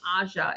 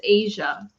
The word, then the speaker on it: Aja: We've always been pronouncing her name Aja. It's Asia How do you know? because it says right there in parentheses.